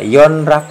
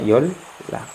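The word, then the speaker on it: 연락: Nah, ini kalau dibaca yon rak itu salah. Maka ini bacanya yol lak. Seolah-olah seperti ini. Yol lak.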